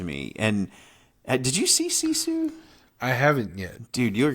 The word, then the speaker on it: Sisu: yeah number three is sisu s-i-s-u I always have to spell it out because it sounds like I'm saying like zizu like Zuzu pedals or something which is a